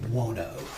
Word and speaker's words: Buono: Uh Dwayne Buono.